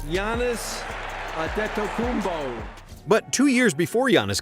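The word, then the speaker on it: Giannis Antetokounmpo: All Odds NBA Commissioner David Stern managed to pronounce it correctly Yannis adet kumbo but two years before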